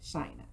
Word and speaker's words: Shynna: And it's pronounced, it's like China, but with an S, so Shynna.